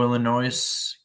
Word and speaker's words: Illinois: Chicago, Illinois. Don't pronounce the S.